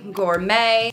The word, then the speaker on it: gourmet: other languages Etc so things like ballet Gourmet we are not going to pronounce the T there she's a ballet dancer they